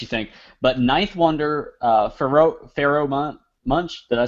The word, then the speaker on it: Pharoahe Monch: But Ninth Wonder, Pharoahe Monch, did I say that right? Pharoahe Monch. Pharoahe Monch, yes.